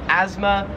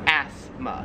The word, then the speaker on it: asthma: to call it in america we call it asthma and in australia it's pronounced asthma we kind of say it more